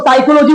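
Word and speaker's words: psychology: नहीं बोलते हैं, ये लिखते हैं पी साइकोलॉजी लेकिन बोलते हैं इसको साइकोलॉजी बोलते हैं।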